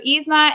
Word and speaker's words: Yzma: We talked about it's Yzma with just like an E sound. We talked about this, but I don't know. I still screwed it up. We talked about it before we did. So Yzma and Frollo.